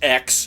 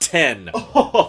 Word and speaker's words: X: call it Apple watch x okay it's pronounced 10.